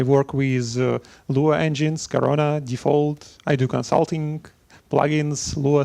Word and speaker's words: Defold: So Defold, it's like it's folded something and then defolded, something like that.